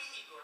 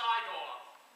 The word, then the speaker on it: Igor: You must be Igor. It's pronounced Igor. They told me it was Igor. Well, they were wrong then, weren't they?